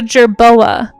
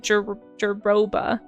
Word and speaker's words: jerboa: Because I even just now wanted to say jeroba. Because I have been misreading that with my pseudo-dyslexia since I was a kid. I'm pronouncing it jeroba. But it's actually a jerboa.